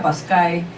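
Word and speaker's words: pascha: aclara esto verdad dice la palabra Pascua de que en latín se pronuncia pascae y en hebreo pesa significa paso es el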